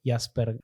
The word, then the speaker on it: Jaspert: Entonces el primero es de Nicolas Jaspert, que es un profesor alemán, se escribe Jaspert, Jaspert, se llama Las Cruzadas, por una editorial